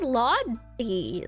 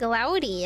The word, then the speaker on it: laude: I always said laudi, like laud, like when you laud somebody, but she's like loudy.